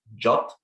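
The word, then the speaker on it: JWT: according to the specification json web tokens are pronounced jot so you may you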